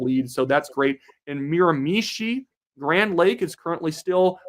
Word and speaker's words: Miramichi: Miramichi, emphasize the last syllable. Say it with me, Daniel. Miramichi. Miramichi.